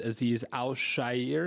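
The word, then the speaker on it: Azeez Al-Shaair: They also retained Dalton Schultz, and they brought in Danico Autry, who I know you like, Theo, and Aziz Al-Shair. Is that how you pronounce that?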